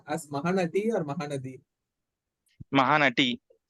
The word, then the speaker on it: Mahanati: Mahanati, T, like T, right? T, Okay. Ta, So that is correct only. Okay. Fine. Telugu. Yeah, Mahanati. Okay, And because you in Tamil, pronounce it the Mahanadi. Mahanadi. Actually, we were pronouncing wrong. Actually, it is Mahanati.